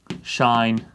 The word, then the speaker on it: sinh: x is that and shine of x is this this although it doesn't look like it says shine of x it's just how mathematicians pronounce it the actual reason of